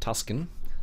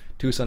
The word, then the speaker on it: Tucson: Tucson I think you how you're supposed to pronounce it it's not tusin uh it's Tucson I believe it's how you're suppos most people pronounce it Tucson Arizona anyways uh so we have nothing fantasy